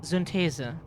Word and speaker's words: Synthese: In German that would be Synthese, like so super easy to pronounce, yeah, Synthese.